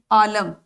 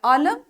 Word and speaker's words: عالم: اعراب کے ساتھ، یعنی پہلے لفظ میں زبر ہے تو دوسرے میں زیر ہے، اس کا جو اس کی ادائی ہے، اس کا تلفظ ہے، وہ بھی بدل گیا۔ عالم اور عالم، عالم اور عالم یعنی دنیا اور علم والا.